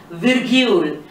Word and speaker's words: virgule: And in French, it sounds as, or the word used is virgule, la virgule. The sound pronunciation, la virgule. You use it with an article, it sounds as la virgule.